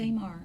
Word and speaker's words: Tamar: Is that how you pronounce it? Tamar.